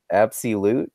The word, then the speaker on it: Appsii Lute: Mabel just call me is so good absolute is that right yeah that's fine yeah and